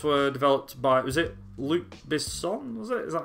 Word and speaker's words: Luc Besson: Was it Luc Besson? Was it? Is that how you pronounce his name? Yeah, Luc Besson.